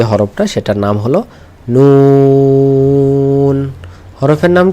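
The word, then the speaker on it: ن: আবার বলি, জিহ্বার আগা সামনের উপরের 2 দাঁতের মাড়ির সাথে লাগিয়ে, হ্যাঁ, গোড়া না, মাড়ির সাথে লাগিয়ে উচ্চারণ করতে হবে নুন।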